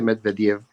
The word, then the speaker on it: Medvedev: Se escribe Medvedev, pero se dice Medvedev.